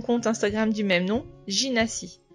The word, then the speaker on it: Gina & Cie: Instagram du même nom, Ginassi. Alors donc ça s'écrit Gina comme le prénom de Gina, G-I-N-A, et Si, C-I-E comme compagnie. Ginassi.